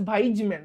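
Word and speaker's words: Weismann: মানে আধুনিক আধুনিক সংশ্লেষ মতবাদ তাই না অগাস্ট ভাইজম্যান ভাইজ জতে জার্ম প্লাজম মতবাদ পরীক্ষায় প্রশ্ন আসবে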